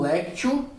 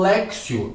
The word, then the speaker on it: lectio: conhecem esse conjunto como lectio divino ou como lexio divino. Lexio aí é uma pronúncia que puxa mais aí pro italiano, a palavra que deriva aí do latim, tá certo?